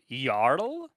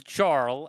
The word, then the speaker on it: jarl: I I loved your yarl which I would have thought it's Jarl at least in the English pronunciation silent J is same with okay it's y it's yl from what I hear